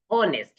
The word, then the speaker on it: honest: We pronounce pronounce it as honest. So here this our honest and honor all these h begins with h but the h sound remains silent and the vowel sound comes.